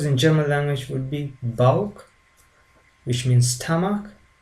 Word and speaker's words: Bauch: The seha followed after vowels like a, o, u always take the sound k, like in sick. The word sick has the sound k, and this seha combination, whenever we see after the above mentioned vowels, takes the sound k.